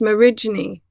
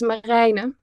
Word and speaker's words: Marijne: It's just a Dutch name with a weird, IJ in the middle that in English would be pronounced Marijne. And I do have friends that call me Marij, but that is not how you pronounce it. No. So the Dutch, the way I was christened is Marijne.